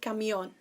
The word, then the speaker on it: camión: is el camión so because the accents on the oh you've got to stress that point el camión now try this she